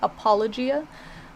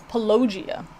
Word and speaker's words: apologia: to check out apologia which is how it's supposed to be like apologist like apologia um a lot of people mispronounce it as pelogia i know it's usually